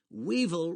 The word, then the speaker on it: weevil: a rock band weevil weevil rhymes with evil and that's what many